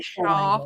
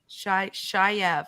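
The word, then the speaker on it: chèvre: So I thought it was like Shaw. I don't know. Yeah. Yeah. But if you ask me in 5 minutes to pronounce it, I'll forget again. Shayev. I'm going to remember that. That sounds way more fancy.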